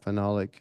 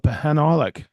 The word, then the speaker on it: phenolic: yeah, phenolic. Yeah. Oh, I used to call it Pahanolic.